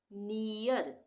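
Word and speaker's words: near: जैसे अब हम इसको क्या बोलेंगे, नियर, नियर हो गया ना, ईयर, नियर, ई दोनों आ गया, नियर।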